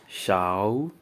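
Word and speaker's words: 勺: spoon you can see the character spoon is pronounced as Xiao Xiao number three knife you can see the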